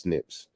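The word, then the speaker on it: SNP: have accumulated over time we call these single changes Snips pronounced Snips just like donations to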